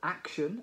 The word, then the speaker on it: action: to action call to action notice the stress on the first syllable of action it's a noun and what is a